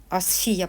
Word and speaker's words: Асфія: Асфія, правильно говориться.